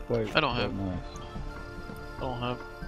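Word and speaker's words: gneiss: I guess I better go I have a Phyllite and a Gneus. Which I think is pronounced nice, but whatever. That's how I say it.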